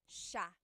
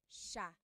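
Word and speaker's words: siya: but it's actually pronounced sha sha so the s i y it's a sha sound sha And then another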